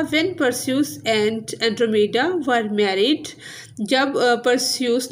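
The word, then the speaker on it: Andromeda: When परस्यूस एंड एंड्रोमेडा were married, जब परस्यूस ने और एंड्रोमेडा ने शादी रचा ली, हर कोई उसे सेलिब्रेट कर रहा था और हर कोई खुश था।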